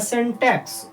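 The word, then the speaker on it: syntax: इसका correct pronunciation हो जाएगा सेंटेक्स।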